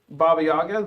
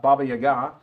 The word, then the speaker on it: Baba Yaga: got captured by Baba Baba Yaga, which I just found out the pronunciation was more that way because it's Russian.